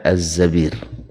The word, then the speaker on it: Az-Zabir: Abdurrahman ibnu Az-Zabir ini satu-satunya tulisannya sama dengan Zubair, tapi bacanya adalah Az-Zabir.